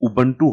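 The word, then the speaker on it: Ubuntu: उबंटू का जो pronunciation है वो उबंटू होता है।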